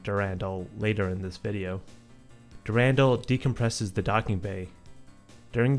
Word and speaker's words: Durandal: the marathon ship's AIS the correct pronunciation is durandal now we'll try to maintain that pronunciation but I am likely to forget I wound up saying durendal the correct pronunciation comes